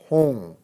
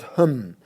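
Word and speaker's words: Hūṃ: So the first three syllables of this mantra are Om, Ah, Hong. Okay, again you have to say Hong, not Hum. Sometimes people say Hum. That's not the correct pronunciation.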